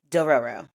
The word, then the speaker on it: Dororo: I think it's three syllables. I'm double checking myself. It is definitely Dororo. Two Roros. Got it.